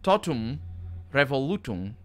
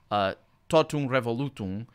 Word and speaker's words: totum revolutum: So for example, totum revolutum, in a verse, this would be 1, 2, 3, 4, 5 syllables.